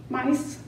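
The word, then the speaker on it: Myss: within us not Carolyn I think it's pronounced Miss mice m-y-s-ss she's a new thought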